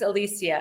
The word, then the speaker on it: Elysia: Am I Your name is Alisia. Am I saying it right? Yes, you sure are, honey.